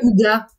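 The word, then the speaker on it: hygge: Je crois qu'on dit ouga, mais ça s'écrit higueux.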